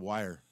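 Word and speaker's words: Wier: his is IE, so we used to pronounce it phonetically Y-er. So he's Bob Wire.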